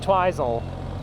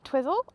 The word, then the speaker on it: Twizel: Are we sure it's pronounced Twizel and it's not Twizzle? Why would it be Twizzle? I don't know. It's Twizel in my book.